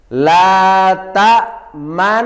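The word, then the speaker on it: لا تأمنا: Artinya ishmam apa tadi? Bibir mecucu atau moncong di tengah-tengah dengung sebagai isyarat dhammah.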